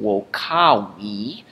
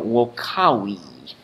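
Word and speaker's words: vocāvī: As you're saying, wokawi, notice how when I say we, the W sound, my lips go down, close, and the sound ceases.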